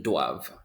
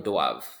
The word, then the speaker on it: doivent: Ils doivent. Ils doivent. Elles doivent. Elles doivent. Ils ne doivent pas. And elles ne doivent pas. The last thing you're pronouncing is the V. The ENT is silent.